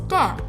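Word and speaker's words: ∂: respect to x and the very common notation used for partial differentiation is pronounced as del so dz over dx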